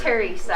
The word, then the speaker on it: Theresa: It's Theresa. Theresa. The H is silent, so Hi.